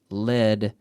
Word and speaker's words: lead: And it's pronounced the same as lead, like the lead we have in plomo, right?